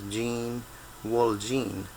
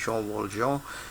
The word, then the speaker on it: Jean Valjean: Well, in English you'd probably pronounce his name as Jean Valjean, but the French pronunciation is Jean Valjean, who is actually a